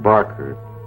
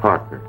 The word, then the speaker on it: Parker: But, by the way, you got my name wrong. It's not Barker, it's Parker.